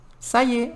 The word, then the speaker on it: ça y est: Ça y est. A gente vai pronunciar assim. Ça y est. A gente vai falar ça y est.